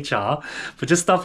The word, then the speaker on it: chai: that all the time it's not even pronounced chai we say Char but just stuff like